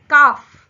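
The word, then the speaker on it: calf: और काफ काफ में L silent हो जाता है। और आ के बाद सीधा एफ की आवाज आती है।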